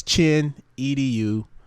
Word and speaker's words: Chinedu: toes too late yeah you know so it's chin edu last name is that's my